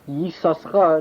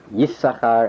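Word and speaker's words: Yissachar: 8 says that you pronounce Yisoschar, that is number 7, throughout the book of Genesis. And starting from the book of Exodus on, you read it Yisachar as number 1. Pronunciation 9, you pronounce it Yisoschar, not only starting Genesis 30:18, but everywhere until you get to Parshat Pinchas. Sounds familiar to somebody. And at Parshat Pinchas, at Numbers 26:23 to be precise, it is pronounced again like number 1.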